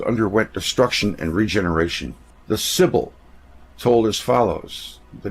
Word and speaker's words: Sibyl: the books of the Sibyl. It's spelled S-I-B-Y-L. I'm just taking that as another way to use an I, Sibyl.